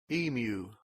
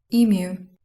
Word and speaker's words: emu: here's an an american emu emu oh everybody's using the liquid u liquid you everybody emu oh emu so apparently uh emu is pronounced with a liquid u uh this is a